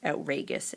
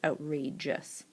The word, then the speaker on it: outrageous: G sound meaning that if they got rid of that e and dropped the E the word would be pronounced outragous instead of the soft G of the J sound outrageous a few of the